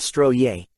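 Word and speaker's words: Strøget: These traffic-free roads in downtown Copenhagen are called Stroget, pronounced Stroye.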